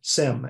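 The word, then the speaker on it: SIEM: you don't see the word Sim s-i-e-m you know simmer scene depending on where where in the world you are pronounce different security information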